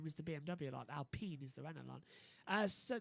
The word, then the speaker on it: Alpine: practice starts lewis hamilton isn't it just the french pronunciation of yeah it's alpene isn't it not alpine it's it's confusing it was